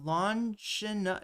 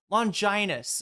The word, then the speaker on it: Longinus: the spear of Longina, is that what it's called?